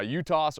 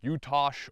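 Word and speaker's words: UTAS: you want to say I say you toss I'm American I'm not from Turkey I'm most likely saying it wrong I'm pretty sure it's you Tosh with us at the end of it but everyone says you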